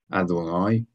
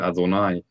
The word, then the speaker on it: Adonai: But when we read this word in formal recitation, we pronounce it as Adonai. And the reason for that is an entirely different topic. But suffice it to say, it is well known that that is not the proper pronunciation of this name.